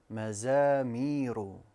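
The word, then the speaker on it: مزامير: It's the second letter. I pronounced the za as a dhal. I said madha, and it should be maza. Correct pronunciation. Mazamiru.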